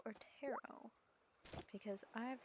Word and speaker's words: Taro: cards I don't know I figured it was like a Japanese name so you would pronounce it like taro and for that matter